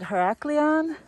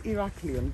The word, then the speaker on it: Heraklion: Is it Heraklion? In Greek, the hero is called Heracles. So it's Heraklion. But in English, the same hero is called Hercules. Oh. Therefore, Heraklion, the Latin pronunciation.